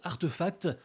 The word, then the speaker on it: RTFKT: Pour faire simple, toutes les activités de RTFKT, qu'on prononce Artefact, sont arrêtées.